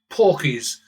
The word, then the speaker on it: porkies: Porkies, as they call them in England, which is Cockney slang, rhymes with pork pies, lies, so they call them porkies.